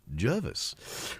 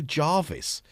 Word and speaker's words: Jervis: Don't get nervous, get Jervis. Well done. My daughter was absolutely horrified by her oboe teacher. Yes, she plays oboe. Getting her name wrong. She called her Jarvis.